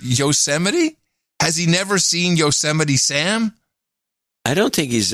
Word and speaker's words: Yosemite: the national parks and he was trying to pronounce the name of one of our national parks when they gaze upon yosemites yosemites yes towering sequoias yosemite holy crap has